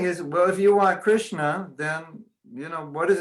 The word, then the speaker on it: Krishna: Everybody say, Hare Krishna.